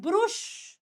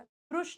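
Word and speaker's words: brush: दांत ब्रश करते हैं ब्रुश मैंने बहुत बच्चों को बोलते हुए सुना है ब्रुश करना भैया हमने ब्रुश कर लिया ब्रुश नहीं होता ब्रश होता है ब्रश इट ब्रश माय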